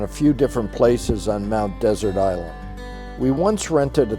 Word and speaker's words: Mount Desert: to get used to many locals pronounce Mount Desert in the French fashion while others pronounce in the English manner of the noun desert we have stayed